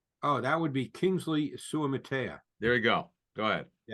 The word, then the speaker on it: Suamataia: I'll let you pronounce his last name, from BYU. Oh, that would be Kingsley Suamataia.